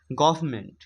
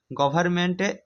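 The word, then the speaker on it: government: লেজড আছে ঠিক আছে গভার্মেন্টে এন আমরা উচ্চারণ করি না বাট আছে আছে গভার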